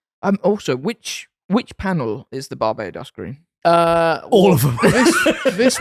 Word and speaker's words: Barbados: It's Barbados. Barbados green. Yeah, individual, German pronunciation.